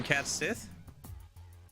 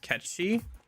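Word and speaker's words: Cait Sith: Oh, you mean cat Sith or K Sith? Something like that. Spelled C AI T S I T H I think. Are you like a black fetus? It's pronounced catchy.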